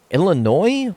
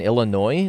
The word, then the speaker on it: Illinois: pronounce the s in Illinois no you don't pronounce the S it's a silent s just like you don't